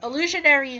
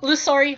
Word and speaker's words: Illusory: And then lastly, to her combat talents, is Illusionary Heart, or Illusory Heart. I mean, I said it wrong, but still. Illusory Heart.